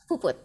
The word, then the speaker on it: Puput: Am I pronouncing that correctly? Or Puput? Yeah, Puput. Puput.